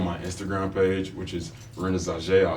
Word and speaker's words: Renaissauja: my bio on my Instagram page which is Rena Z I spell it for you r e n a i